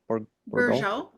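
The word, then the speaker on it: Bourgeault: Bourgeot.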